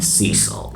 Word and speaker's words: Cecil: I've heard it pronounced a couple of different ways. I'm going to call this lion Cecil.